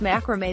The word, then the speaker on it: macrame: there are 1.4 mil this is how you pronounce macrame the origin of macrame is generally attributed to